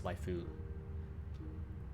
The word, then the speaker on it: waifu: a vowel after it so it's not wife it's waifu life although in colloquial japanese you can drop the you can drop the vowel if it's the second syllable in a lot of words it's a whole separate